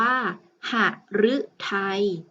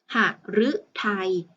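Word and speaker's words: หฤทัย: ของ เรา นะ คะ มี พยัญชนะ ที่ ประสม อยู่ อยู่ ด้าน หน้า นั่น ก็ คือ ตัว หอ หีบ คำ นี้ จึง อ่าน ออก เสียง ว่า หาก ฤทัย หาก ฤทัย ที่ แปล ว่า ดวง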